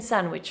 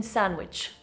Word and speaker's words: sandwich: The D is dropped in fast pronunciation because the cluster N dw sand is awkward in fast speech. I had a chicken sandwich for lunch. I had a chicken sandwich for lunch.